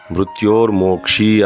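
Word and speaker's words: ಮೃತ್ಯೋರ್ಮುಕ್ಷೀಯ: ಸುಗಂಧಿಂ ಪುಷ್ಟಿವರ್ಧನಂ ಉರ್ವಾರಿಕಮಿವ ಬಂಧನ ಮೃತ್ಯೋರ್ಮೋಕ್ಷಿಯಮಾಮೃತಾತ್ ನಾನೇನು ಹೇಳ್ತೀನಿ ಅಂತಂದ್ರೆ ಈ ಮಂತ್ರದಲ್ಲಿ ಕೆಲವೊಂದು ಕಡೆ ಅಂದ್ರೆ ಬಂಧನ ಅನ್ನೋದನ್ನ ಬಂಧನ ಅಂತಾರೆ ಮೃತ್ಯೋರ್ ಮೋಕ್ಷಿಯ ಅನ್ನೋದನ್ನ ಮೃತ್ಯೋರ್ ಮೋಕ್ಷಿ ಯಮಾಮೃತ ಅಂತಾರೆ ಇದರ ಅರ್ಥ ತುಂಬಾ ಬೇರೆ ಆಗೋಗುತ್ತೆ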